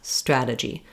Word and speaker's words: strategy: So not strada with a lot of pressure, G, but strata, stra-gy. Just one tap up. It's like one roll of a rolled R.